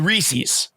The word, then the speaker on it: Reese's: How do they pronounce it at Hershey Park? The Reese's. Just like I do it.